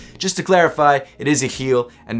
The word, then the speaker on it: Yecheil: of this shoe is a heel and the reason it's pronounced that way is because the name of the shoe is actually a Hebrew word that means may God